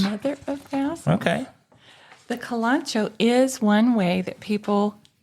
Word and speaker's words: Kalanchoe: How would you pronounce that word? The Kalanchoe? Kalanchoe. Yes. Mother of thousands. Mother of thousands. Okay. The Kalanchoe is one way that people say this.